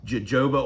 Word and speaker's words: jojoba: It's spelt like jojoba oil, but from my research, it's pronounced jojoba oil. So correct me if I'm wrong, but I believe that's how you pronounce it, is jojoba oil.